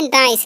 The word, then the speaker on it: nice: तो इसे हम नीचे नहीं पढ़ेंगे, यहाँ पर आई का उच्चारण आई होगा, क्योंकि ये देखिए आई वोवेल है और फिर से C कॉन्सोनेंट है और लास्ट में E जो वोवेल है, तो पहले वाले वोवेल का उच्चारण होता है इस तरीके से अगर मिले तो, ठीक है।